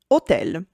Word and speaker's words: hotel: H for Hotel. Yes, just like in English, but the H is silent.